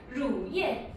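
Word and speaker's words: 乳液: 왜냐면 R 발음 자체가 한국에는 없는 발음이어서 르에다가 우, 루 그래서 리을의 우 발음이긴 하지만 조금 더 혀를 굴려서 입천장에 닿을랑 말랑 하면서 루예 약간 이런 식으로 발음할 수 있겠죠.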